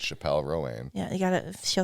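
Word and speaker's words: Chappell Roan: I just saw a video of her at a concert being like, you're saying my name wrong. It's Chappelle Rowan.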